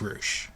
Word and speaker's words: Rush: roou and it's spelled like rush but it's pronounced roou go watch him he is an amazing talent